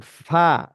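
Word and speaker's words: ف: এই যে দেখেন, ফা, ফা, দাঁতের বাইরে গেছে। ফা, সামনের উপরে দাঁত, দুই দাঁত নিচের ঠোঁটের পেটে ঠোঁটের পেট, লাগাইতে হবে।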